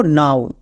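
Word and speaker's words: now: এখানেও আমাদের ওডব আউ সাউন্ড দেবে। আমরা নো করবো না। এর উচ্চারণ করব নাও।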